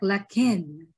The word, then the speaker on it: Laquin: born in California so please welcome Mr Lakin and I hope I pronounced your your last name right hey